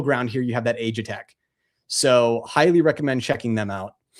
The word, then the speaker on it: Aegitech: Aegitech.